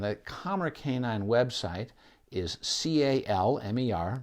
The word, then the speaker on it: Calmer: kamar canine website is CA LM er like the word kamar i don't pronounce the L because I was raised by parents who grew up in in the New England and they don't say